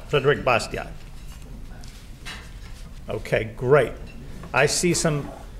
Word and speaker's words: Bastiat: a little bit differently put a lot of silent letters in their language and the the t is silent so his name is